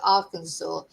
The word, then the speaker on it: Arkansas: apparently is pronounced uh is spelled R Kansas but you pronounce it Arkansas in the USA.